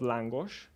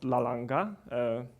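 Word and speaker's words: lángos: This one is langos, it's called langos, and it's often pronounced as lalanga at some places.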